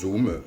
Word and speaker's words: Zoom: Bien sûr, il existe des outils disponibles en accès libre et gratuit et simple d'utilisation comme Zoom, comme ça se prononce, Zoom, Z2OM, Skype, Webex ou encore Framatalk.